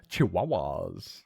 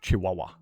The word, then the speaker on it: Chihuahua: There's no W's. Yeah, the H is a W. No, that's an H. And we're going to pronounce it W.